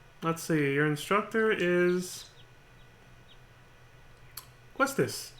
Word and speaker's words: Quistis: Questis, if that's how you say it. I've heard other people pronounce it Quistis. That doesn't sound right to me, but I'm just gonna go with the way I've known how to pronounce it, which is Quistis.